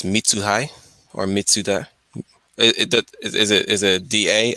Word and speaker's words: Mitsuhide: Spell it again. Sorry. M MIT Uh huh. SU Uh huh. HIDE. Uh huh. DE. Mitsuhide.